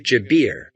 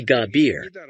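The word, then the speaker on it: جابر: gabir is in use Egyptians don't use the J sound gabir or gabber in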